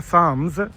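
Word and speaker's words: Psalms: तो ये बाइबल का एक चैप्टर है साम्स, PSALM होता है इसका स्पेलिंग।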